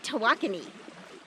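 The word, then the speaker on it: Tawakoni: last time right lake tahwakoni i have learned how to say it correctly i liked lake tahuacany i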